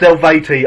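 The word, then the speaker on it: Eluveitie: Where the first song sounds like meatlo you also showed me this band called Elveti which sometimes singing Gaelic. It's it's pronounced Elveti.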